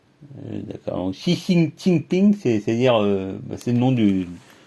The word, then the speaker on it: Xi Jinping: Donc, et X, ça se prononce I. Normalement, enfin, une espèce d'approximation de I, de I. Donc, par exemple, Xi Jinping. Donc, c'est, ouais, et J, ça se prononce Che.